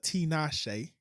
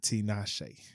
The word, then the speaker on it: Tinashe: get out of here, big shout out to Tinashe. That's how she said it. Nah, not me. Shout out to the West Coast once What'd you again. I just know say? Tinashe.